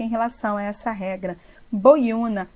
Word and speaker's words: boiuna: Boiuna, boi-una. O U está sozinho na sílaba tônica, forme hiato com a anterior.